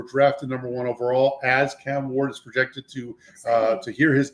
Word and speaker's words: Cam Ward: Just say Cam Ward. 2 syllables. Cam Ward.